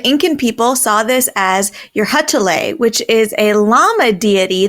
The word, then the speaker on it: Urcuchillay: Meanwhile, the Incan people saw this as Eurydice, which is a llama deity that watched over animals. Retell. Excellent pronunciation.